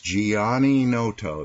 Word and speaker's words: Gianninoto: is the Gianninoto YouTube channel. And that's how you pronounce my name. Gianni is Italian for John, and Noto is a fishing village in Sicily where my father was from.